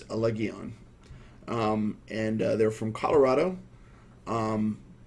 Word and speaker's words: Allegaeon: And the band is, I think the pronunciation is correct. I believe it's Allegaeon.